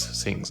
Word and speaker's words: Singh: anything and also i'll use the word sing a lot s-i-n-g-h just like you know has written in my youtube name right um zing is